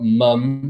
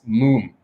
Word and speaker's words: Mumm: later so it's not it's not mum it's not mom it's moon gh moon very European